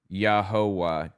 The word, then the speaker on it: Jehovah: But by the time we realized it had already passed through Germanic regions that pronounce Y's like J's and W's like V's and we ended up with a pronunciation that resembles Jehovah.